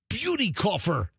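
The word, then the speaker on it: Buetikofer: Uh, Alyssa Beauty Coffer, senior vice president of and chief of marketing at McDonald's USA.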